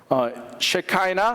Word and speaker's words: Shekinah: 셰카이나 혹은 셰키나라고 발음하는데요. 자, 있으세요? 없으세요? 네, 없으시면 괜찮습니다. 제가 저기 이메일을 좀 늦게 보내드려가지고 아직 못 보신 것 같습니다. So I wanted to show the Hebrew language, Shekinah in Hebrew, written Hebrew form.